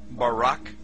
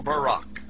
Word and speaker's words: Barak: Hebrew word is Barak so lightning or a flash of light in Hebrew is pronounced Barak or Barack now consider this amazing